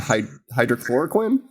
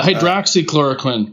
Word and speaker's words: hydroxychloroquine: social media insights tool posts mentioning fauci and hydrochloroquine uh am i saying that right still yeah hydroxychloroquine hydroxychloroquine god that's too many syllables homie that's why we should like not